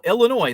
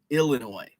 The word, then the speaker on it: Illinois: and there you go illinois the s is silent and many people like i say el inoy and many people don't like that it's ill illinois and i say illinois